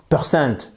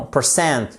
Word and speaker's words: percent: percent c'est le pourcentage percent c'est pas percent non percent accentuation sur la deème syllabe et vous ne mettez